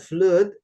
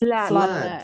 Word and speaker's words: flood: It's not flute but it's flood.